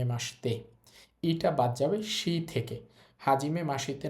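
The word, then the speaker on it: はじめまして: Normally হওয়ার কথা ছিল হাজিমে মাসিতে। কিন্তু এটা হবে না। এই শব্দটার উচ্চারণ হবে হাজিমে মাসতে। ইটা বাদ যাবেশি থেকে। হাজিমে মাসিতে না হয়ে হবে হাজিমে মাসতে।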